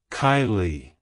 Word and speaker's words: Kiley: origin it's pronounced as Kylie Kylie Kylie to pronounce it correctly emphasize the first syllable k i e and then lightly pronounce the second syllable Lee like hello Kylie goodbye Kylie if you